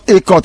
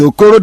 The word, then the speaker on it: Okoro: It is not Ekot. It's Okoro. They call it. If you go there, they will say it's Okoro Obasi.